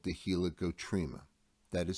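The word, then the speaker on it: helicotrema: very end of the cochlea is called the helicoptrima that is spelled h e l i c o t r e m a helicoptrima it's not listed on our slide and it's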